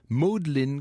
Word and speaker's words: Magdalen: bien à Oxford et c'était au Magdalen College qu'on prononce me dit Anne Model College.